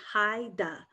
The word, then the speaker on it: Haida: Well, it's pronounced Haida.